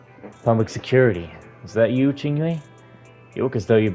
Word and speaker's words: Qingyi: So, or Qingyi, Qingshui, I always say it wrong.